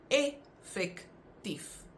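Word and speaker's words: effektief: However, the pronunciation is different because you have effect pronounced with the Afrikaans I, but then you have effectief, which is actually pronounced phonetically like it should be pronounced.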